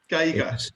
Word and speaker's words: Geiger: Geiger. Yes, it is a German surname.